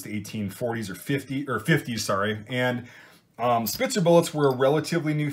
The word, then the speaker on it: Spitzer: The correct word is a Spitzer bullet, or Spitzer. You know, I just wanted to be so correct and be really condescending with that first pronunciation, the original German pronunciation.